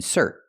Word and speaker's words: insert: verb is pronounced in insert we put the stress on the second syllable so we have two